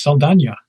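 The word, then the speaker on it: Saldaña: I didn't know that her last name was correctly pronounced Selena.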